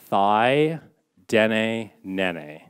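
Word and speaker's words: Thaidene Nëné: so first of all you pronounce it thi dene nene okay let's repeat after me awesome so thigh like your leg den nene and that means the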